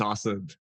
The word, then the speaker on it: Asad: It's Asad.